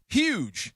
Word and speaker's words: huge: Speaking of that, huge. Is it huge or huge? Do you pronounce the H? My dad says huge. Huge. I go with huge.